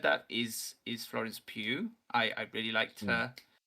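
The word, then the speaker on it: Pugh: that is is florence pew i i really liked her is that how you pronounce her last name yeah sorry i've said poe all this time po yeah q oh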